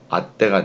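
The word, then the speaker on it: 会って: 그럼 발음 어떻게 되겠어요? 아때가 되겠죠. 아때. 왜? 이 트는 왼쪽에 있는 글자와 결합을 하죠. 그리고 받침 역할을 하죠.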